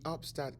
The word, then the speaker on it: UPSTAT: because we are from upstate New York, and therefore we thought that it rhymes upstate and upstat.